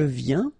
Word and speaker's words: viens: Je viens Final S not pronounced, okay? And when you combine this IEN, you get this yen, yen.